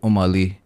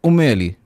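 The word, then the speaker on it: أم علي: तो अब वो उसके स्पेलिंग जो वैसे लोग लिखते हैं ना, वो होते हैं ओम अली, OM स्पेस ALI। ठीक है, बट एक्चुअली उसको कहने का तरीका है उम्मे अली means mother of अली की अम्मी।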